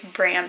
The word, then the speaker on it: Bram: are welcome to also i learned that bram is short for abraham so i i'm pretty sure i normally pronounce it brom stoker that's what i've heard if it's short for abraham i think it's bram stoker potato potato i don't